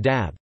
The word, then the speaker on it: dąb: For example, in dab, oak, is pronounced m, and in Texa, rainbow, is pronounced n.